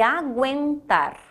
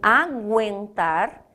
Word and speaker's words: aguentar: Por isso que guerra é diferente de aguentar. Em guerra, este U não tem som, só está grafado. Em aguentar, ele está grafado e eu pronuncio.